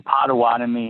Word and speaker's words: Potawatomi: the indian tribe what was it yeah the potawatomi indians so potawatomi so give us i don't think we have